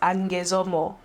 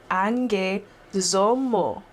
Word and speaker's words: Angue Somo: That's Angue Somo. Angue Somo. And if you forget how to pronounce it, you can listen to my song Mayimwa.